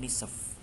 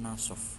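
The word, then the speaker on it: نصف: Jadi ini bacanya ar-rabi'ah wan nisf, bukan ar-rabi'ah wan nasf, bukan, ya.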